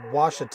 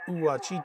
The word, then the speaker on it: Ouachita: All right, Google AI agrees with Lee McNasty. He says Washita. I'll stand by for the second up. Common mispronunciations. It is not Uwachita.